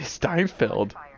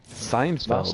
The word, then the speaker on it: Seinfeld: Why do you say Steinfeld? How do you pronounce it? Seinfeld. Seinfeld? Oh! Why was throwing a T in there? I don't know why you threw a T in there every time.